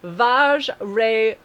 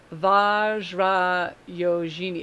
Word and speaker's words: Vajrayogini: It's like, and I don't want to call her Vag because that's I think it's Vajrayogini, because J is usually the J. It's not like a G. So Vajrayogini.